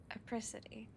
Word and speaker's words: Apricity: name again I know it rhymes with reciprocity but it's apricity aity that's what it